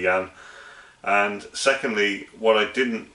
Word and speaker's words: Jan: i can probably pronouncing jan's name wrong i think i pronounced it jan so apologies for that it's clearly yan and secondly what i